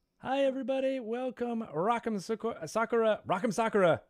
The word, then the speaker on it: Sakura: Or is this an easy way for you guys to pronounce it is like soccer ball or like your socks.